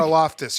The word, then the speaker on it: Karlaftis: Karlaftis, is that how you say his name? The Greek freak? Karlaftis, yeah, he's Greek, yeah.